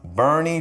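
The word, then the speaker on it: Boerne: a suburb called bernie i know it sounds like born texas but it's actually pronounced bernie texas bernie is a really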